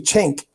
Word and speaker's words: Cenk: It's actually Cenk. It's Cenk. I swear that's how they pronounce it now, but it's neither here nor there.